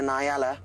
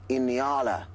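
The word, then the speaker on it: nyala: Uh, it's not really a Niella. That's how I guess a lot of our American viewers may pronounce it. It's an Iniala, but it's spelled N Y A, which actually means onion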